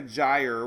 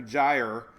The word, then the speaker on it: gyre: it's a central america gyre we learned this last year first I learned how to say it last year because it's it's spelled g yr e i know Louise